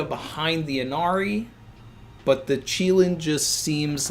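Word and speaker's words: Qilin: Dred Scott says it's pronounced Cheelin.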